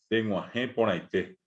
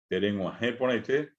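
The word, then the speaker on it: Tereguahẽ porãite: Tenguajé ponaité. Acá, dentro de un momento, voy a pintar el acento en la G y el acento en la E. Y un acento nasal más en poná.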